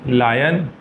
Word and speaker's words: lion: तो A double P एल E Apple F आई एस H fish ji आई आर L girl L आई ओ एन लायन क्यू U double E N queen और जेड